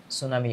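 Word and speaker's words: tsunami: happen to মালদ্বীপ during সুনামি অফ 2004 এখানে টি এর উচ্চারণ সাইলেন্ট থাকবে টি এর উচ্চারণ হবে না সুনামি 2004 সালে মূলত মালদ্বীপে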